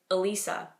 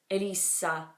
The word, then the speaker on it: Elisa: any Sun it ISA so if I were to pronounce my name in English I would say ELISA ELISA just one short s but in Italian you would say any son any son just hold the S for a tiny bit